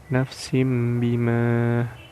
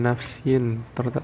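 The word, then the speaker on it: نَفْسٍ بِمَا: Nah, iqlab itu ada huruf kasroh tain bertemu dengan huruf ba, maka dibacanya seperti ini. Nafsim bima, nafsim menjadi huruf mim ya, nafsim bima, bukan nafsin tetapi nafsim.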